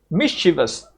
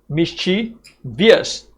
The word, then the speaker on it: mischievous: Mischievous. Mischievous. Not mischie-vious, right? A lot of uh students think that there's a I here. This is not correct, okay? So, the pronunciation is not mischie-vious. It's mischievous.